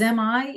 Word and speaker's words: mi: Okay, because if it was an I, it would have a different meaning and it would be